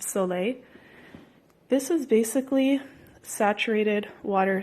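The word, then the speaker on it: Sole: a soul a it's spelled Sol e it's pronounced so late this was basically saturated water solution you can't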